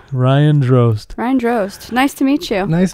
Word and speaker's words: Drozd: Drozd. Ryan Drozd.